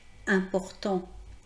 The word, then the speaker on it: important: Donc, important, important se termine par la lettre T, c'est donc une consonne, et par conséquent, on ne dit pas importante. On dira importante lorsqu'on mettra l'adjectif important au féminin, la marque